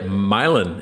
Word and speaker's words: Milan: Yep. Milin. It's It's just like just like the song This Land is Your Land.